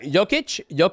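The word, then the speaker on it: Jokić: It's Jokic. Oh shit! Okay, Jokic.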